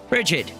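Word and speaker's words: Brigid: but they clearly have experienced these places firsthand rdid an archipelago yes pronounced that way promise you nestled between foden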